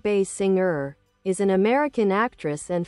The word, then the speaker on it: Basinger: Kim Bay Singer biography. Kim Bay Singer, pronounced Bay Singer is an American actress